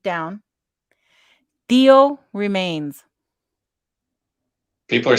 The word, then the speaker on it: tío: T-I-O, but it's pronounced Theo. Theo.